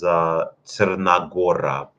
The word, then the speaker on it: Crna Gora: In Serbian language, it would be pronounced as Crna Gora, and that would also translate to the Black Mountains.